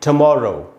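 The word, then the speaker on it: tomorrow: तो दोस्तों, जैसा कि मैंने आपको बताया, टीओ से यहाँ ट होगा, टू नहीं होगा।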